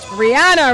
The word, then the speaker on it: Rihanna: Rihanna rather that's how the Beijians pronounce it.